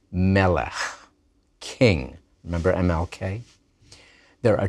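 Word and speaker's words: מֶלֶךְ: You expect a Hebrew noun to be accented on the last syllable, but melech is accented on the first syllable.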